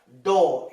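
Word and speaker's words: ∂: There is a vital difference between d and dou. It is pronounced as dou.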